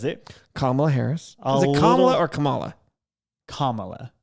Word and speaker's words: Kamala: comma Harris is it kamla or Kamala Kamala kamla I think yeah because I want to default to Kamala but if I say